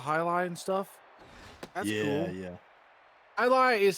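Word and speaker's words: Jai Lai: and stuff yeah yeah i lie is spelled j a i space l a i j is silent like silent in yogging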